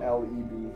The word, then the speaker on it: Fleb: As it's spelled. And then I also Is it spelled- FLEB.